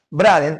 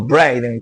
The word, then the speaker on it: Braden: Braden o Braiden, como lo pronuncien, era el embajador norteamericano